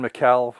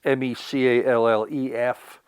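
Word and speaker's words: Micallef: Another gentleman I listen to is, I'll pronounce his name wrong, Ken McAuliffe, I think is pronounced his name. Ken, it's Mecallef.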